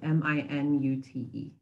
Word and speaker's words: minute: Our next example is this word that's spelled M-I-N-U-T-E. Now, you may want to read this initially as minute, right? A minute is 60 seconds. Or you can pronounce it as minute, which means something that is very small, like